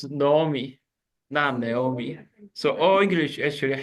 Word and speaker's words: Naomi: in our church okay so should be pronounced as Nomi notomi so all English